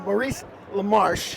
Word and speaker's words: Maurice LaMarche: uh we're here with the brain uh we're Maurice lamarche thank you did I pronounce it correctly thank you for getting it